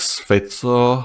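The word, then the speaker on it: Fico: uh in his counter they pronounce his name as fito however I will still use the F pronunciation as you know you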